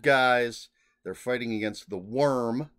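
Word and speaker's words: Wyrm: or the good guys they're fighting against the worm spelled with an Y w-y-r-m which is essentially destroying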